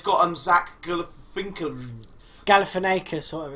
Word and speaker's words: Galifianakis: And it's got Zach Galifianakis.